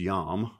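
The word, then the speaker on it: יום: So the Hebrew word for day is yom, or that's South Alabama pronunciation of a Hebrew word, right?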